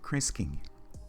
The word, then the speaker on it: Krinsky: This individual is Jonathan Krinsky, and that's how you pronounce his last name.